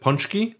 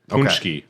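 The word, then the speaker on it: pączki: yeah it's a donut is it punchki yeah punki cuz there's not a u in there what's that mean what's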